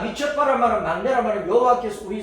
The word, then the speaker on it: 미스바: 미처파. 미처파를 이제 한글로 음력을 할 때 미스바라 발음을 이제 쉽게 하기 위해서 미스바라 그래서 미처파를 미스바라.